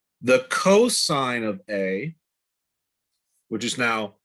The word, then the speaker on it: cos: cosine it's even though it's written cos you pronounce it cosine of theta is going to be adjacent over